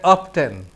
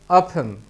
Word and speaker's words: often: আমরা অনেকেই এটিকে উচ্চারণ করে অফটেন, আসলে এর উচ্চারণ হবে অফেন।